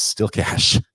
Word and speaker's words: cache: is spelled c a he e and this lawyer pronounces it cache and then she she's like clear your cache